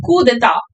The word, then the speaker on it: coup d'état: The pronunciation is coup, or you can also call it coup d'état, D-E-T-A-T.